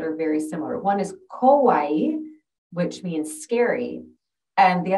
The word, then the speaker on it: kawaii: It's kawaii.